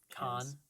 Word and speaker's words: Cannes: like it's a noise can whatever what ago though I think an entourage they pronounced it cons but i'm pretty sure it's can where where's Kasdan prince